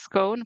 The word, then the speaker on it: scone: So I didn't know how to other pronounce it as scone, but what did you say?